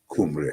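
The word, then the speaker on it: Cymry: Kumri or pronounced kumri and it comes from the kumri which is how the Welsh refer to themselves.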